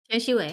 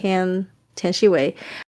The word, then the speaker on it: Tian Xiwei: Tian Xiwei. Tian Xiwei.